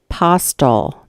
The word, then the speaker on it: Postal: call was made from Bill postal that's how it's pronounced I did I did